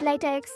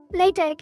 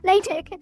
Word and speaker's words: LaTeX: And I shouldn't have pronounced it latex. I should have pronounced it lat because that is how it's pronounced. Latte. Latte.